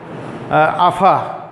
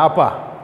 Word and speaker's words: আপা: যেমন জিজ্ঞাসা করা হয় আফা, আফা তো শব্দ নয়, আপা, কিন্তু বলা হয় আফা।